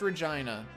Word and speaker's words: Regina: think of when I see Arkansas it's pronounced Regina if you want to know there's a fun